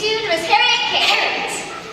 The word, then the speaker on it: Harriet: Parrot. Rhymes with parrot. I'm sorry? It's pronounced parrot. The I is silent. Okay, so King.